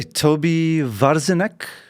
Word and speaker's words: Tobi Warzinek: Okay, Toby Varzine, have I pronounced this correctly?